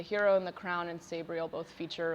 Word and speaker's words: Sabriel: Some, people say it's like Sabriel, like the pronunciation of that. I say Sabriel.